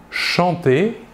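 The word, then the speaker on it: chantent: Nous voyons que la terminaison ENT de la troisième personne du pluriel ne se prononce pas et donc nous prononçons la conjugaison du verbe chanter comme les trois premières personnes du singulier.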